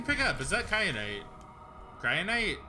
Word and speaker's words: kyanite: something i can pick up is that kyanite cryonite how do you pronounce it it is kyanite yeah sure okay well i'm not leaving without